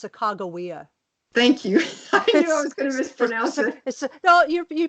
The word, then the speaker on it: Sacagawea: him with Cortes which by the way it's Sacagawea thank you know you pronounce the way most people do it's a